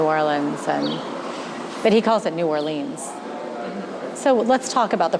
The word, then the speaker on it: New Orleans: song about New Orleans, but he calls it New Orleans. So let's talk about the pronunciation of the city. Oh, this is a pet peeve. So I say New Orleans, but other people say New Orleans or New Orleans.